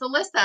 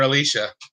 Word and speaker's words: Alyssa: Is it Alicia or Alyssa? It's Alyssa. Whatever, call her Alicia.